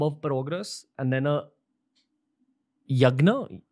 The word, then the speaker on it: Yagya: So is it fair to say that a Havan is a much larger bomb of progress and then a yagna, how do you say it? Yagya.